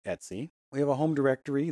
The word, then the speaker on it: etc: files we have an Etsy directory that's usually configuration files Etc but it's pronounced Etsy it's spelled Etc but it's pronounced Etsy we have a home